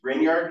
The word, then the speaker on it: Grignard: I believe it's Italian, so it's got the GN like lasagna to make an NA. But I believe he was actually Swiss. The Grignard mechanism is basically a